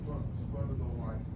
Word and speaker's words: Spondylolysis: Spondylolysis.